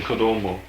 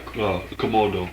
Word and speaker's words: Komodo: It's in Kado. Yeah, dragons. Yeah. Yeah. The interviewer mispronounces Komodo before correcting himself.